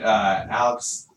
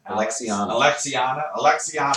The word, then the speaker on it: Alexiana: Let's do the next with is it Alexania? How do you say your name? Alexiana and Aaron.